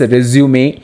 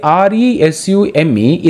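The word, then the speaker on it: résumé: Now let us go to understand what is this resume or covering. CV means curriculum vitae. See, R-E-S-U-M-E is pronounced as resume, restart, or resume.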